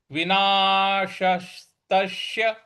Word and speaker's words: विनाशस्तस्य: विनाशस्तस्य, देखिए विना श बड़ा वाला है, फिर आधा स छोटा वाला है।